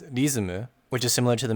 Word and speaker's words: リズム: use in Japanese, but they would pronounce it as rizumu, which is similar to the McDonald's example that I gave earlier.